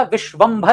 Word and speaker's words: विश्वंभर: जैसे विषंभ नाम सुना होगा आपने तो वो विषंभर नहीं होता। विश्वंभर होता है।